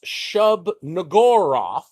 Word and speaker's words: Shub-Niggurath: to refer to as Shub-Niggurath, and we're going to pronounce it that way very carefully, because it's pronounced a little differently in Lovecraft, and I'm not saying